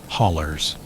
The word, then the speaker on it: hollow: The Appalachin hollows, the locals say, hollers, are where most of these stories live.